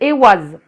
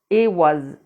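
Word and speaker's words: Eihwaz: interprétations elle s'appelle comment la rune elle s'appelle e was donc ça s'écrit e I h W a Z e was et euh ça se dit comme ça se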